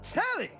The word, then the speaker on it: Telly: I'm Telly, rhymes with jelly.